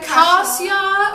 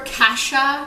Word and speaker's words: cassia: Cassia or Cassia. Yeah. It can be pronounced both ways.